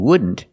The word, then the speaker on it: wouldn't: You see the NT in wouldn't is between vowels, so you don't really hear the T.